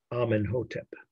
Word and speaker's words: Amenhotep: She was a co-ruler, though not sole ruler, co-ruler, with her husband, Amenhotep. Just spell it like it sounds, but I guess I'll say A-M-E-N-H-O-T-E-P. Amenhotep and her were co-rulers.